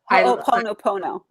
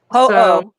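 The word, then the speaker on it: Hoʻoponopono: Ho'oponopono. Ho'oponopono. Ho'oponopono. Ho'oponopono.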